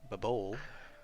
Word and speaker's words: Baval: So Lincia is to the far west, and then Babol, the V is actually pronounced like a B.